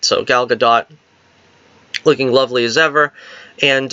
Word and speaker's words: Gadot: gadot or gal gadot I started to say Godot because so many people say that but her name is ash pronounced gadot because I've heard her say it herself and I sometimes slip into the you know the peer pressure of calling her good dough but really gal gadot so gal gadot looking